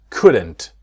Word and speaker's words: could: We couldn't go tomorrow and could we. It's the same with the modal verbs. Right? I will see in the next video with would. It's exactly the same same situation. The L is silent.